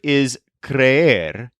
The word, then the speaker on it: creer: I don't believe that really happened the verb iser which is spelled c r e e r so for